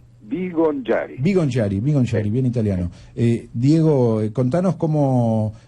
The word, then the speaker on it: Bigongiari: ¿Cómo se pronuncia? Vivonchiari, bien italiano.